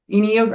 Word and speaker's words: Enneagram: I said it wrong. Genuine. It's Enneagram with the E. Enneagram.